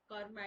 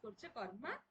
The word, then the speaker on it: कर्म: कर ओके ना Instagram Instagram 50 pores पढ़वा कर्मा is this कर्मा is that कर्मा means this कर्मा means that तो कौन ये कर्मा जो को हमें pronounce कर्मा but actual pronunciation हो कर्मा तो हिंदू लव